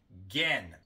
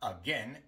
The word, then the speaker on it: again: La sílaba no acentuada en la palabra again es la primera, y por eso esta A aquí se pronuncia como schwa, again. Pero como viene entre dos sílabas acentuadas, tiende a omitirse por completo en el habla normal. En lugar de try again, decimos try again.